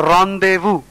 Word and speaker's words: rendezvous: A synonym is a rendezvous. R-E-N-D-E-Z-V-O-U-S, which means a secret meeting between lovers. Rendezvous is the pronunciation.